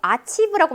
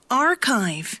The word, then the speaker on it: archive: archive, archive, 아치브라고 많이 알고 있었죠? archive, archive, 기록 보관소 정도의 뜻입니다.